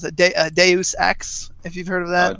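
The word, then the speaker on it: Deus Ex: I actually just picked up um some people pronounce it Deus X if you've heard of that de X yes I just picked that that's really good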